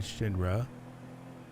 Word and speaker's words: Shinra: You have Wolf and Shinra.